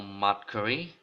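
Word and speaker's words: macramé: So the first one, as you guys know, macrame, curly, macrame. Yeah, okay, I finally pronounced it right.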